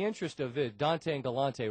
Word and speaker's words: Galante: Dante and Galante rhymes, but, the last name's Galante, correct? Yeah, it's actually Galante.